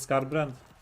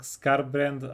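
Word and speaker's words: Skarbrand: the is mispronounce mispronouncing scar brand meme. Yeah. Uh I I don't know why but that that yeah I am adding a sneaky little s in there.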